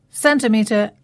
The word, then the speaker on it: centimetre: So we had 3 CE words there and they were all pronounced with a S sound. We had celebrate, centimetre and ceiling, and that's our second rule.